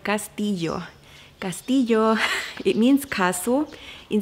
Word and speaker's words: Castillo: castle in Spanish and I know the double arrow is a sound phonetically that is very difficult to pronounce if you mainly are an English speaker so you would probably want to stay like castile yo or something like that but Castillo Castillo beautiful